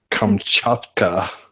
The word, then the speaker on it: Kamchatka: Petersburg or venture to a volcano on the, and I'm going to murder this, Kamchatka Peninsula. You pronounced it perfectly.